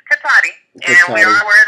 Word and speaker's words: Cotati: Okay, it's Cotati.